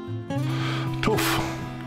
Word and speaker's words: tuff: it's not quarried anymore tough rhymes with woof i left the best